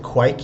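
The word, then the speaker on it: kveik: I also love anything with quike yeast, which is something I didn't really touch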